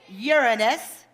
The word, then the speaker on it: Uranus: saturn and pay attention this is the proper pronunciation uranus and finally neptune hey ether got about pluto